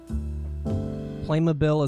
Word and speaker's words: Playmobil: plastic like playset things Playmobile is how they say it in the ads good to know I'm